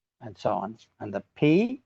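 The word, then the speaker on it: π: And the P, which you probably call pi, but in Greek we call it P.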